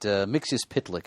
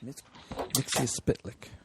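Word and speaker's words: Mxyzptlk: Well, there have been a couple, but Mixius Pitlick is the one I favor. Fantastic. Mixius Pitlick.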